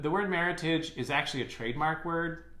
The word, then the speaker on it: Meritage: The last word that you see is meritage. Now, it's pronounced like the English word heritage, don't put a French accent on it. The word meritage is actually a trademark word out of an association in California.